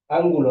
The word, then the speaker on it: ángulo: Ángulo, ¿dónde se acentúa? En la A.